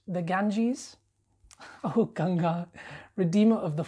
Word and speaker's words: Ganges: god and endure i'm afraid you're incorrect it's pronounced the ganges oh ganga redeemer of the fallen mother of